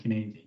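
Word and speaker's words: Cynefin: And thanks, by the way, correct me on the proper pronunciation, Kinaving.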